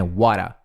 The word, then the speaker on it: what a: Porque é assim que pronuncia na fala corrida. Na fala, sem ser rápida, seria what, né? Ou what a pair of fools. Só que você vai ver na fala que é whata. Esse T, você junta com esse A e parece um som de R, assim, um rararararararará.